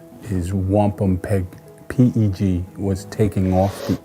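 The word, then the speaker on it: wampumpeag: Uh the true Algangquin pronunciation is wampom peg pg was taking off the end of our pronunciation and shortened to the word wampam which means white shell.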